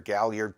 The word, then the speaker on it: Gaillard: He asks about Gaillard is how I pronounce it, or Galliard, Porco.